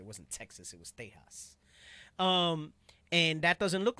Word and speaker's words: Tejas: Edomites and into the west, they called it Tejas, right? That's how they pronounced it. It wasn't Texas, it was Tejas.